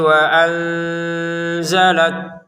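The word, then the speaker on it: وَأَنْزَلَ: Musaddiq limaa baina yadaihi wa anzalat taurata wal injil. Nah, di sini pendek saja ya ke wunnya. Wya di sini nun sukun bertemu zai kita baca dengan samar.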